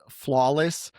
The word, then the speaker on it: FLWLS: And also, so Flawless, spelled FLWLS, but pronounced flawless.